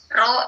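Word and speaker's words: ρ: Jadi dibacanya rho X kali Y, nah, ya, korelasi X dikali Y.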